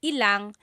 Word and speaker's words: ilang: Just a pronunciation tip. When there's ilan ang, it's usually put together and it's ilang.